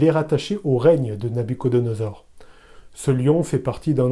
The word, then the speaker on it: Nabuchodonosor: du roi babylonien célèbre nabuchodonosor le nom ainsi prononcé est plutôt inspiré de la traduction grecque de l'ancien testament les traductions qui veulent